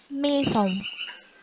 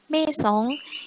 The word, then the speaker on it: maison: Nah gitu, jadi kalau ada AI tidak usah bingung, langsung, oh kalau A sama I itu dibaca E.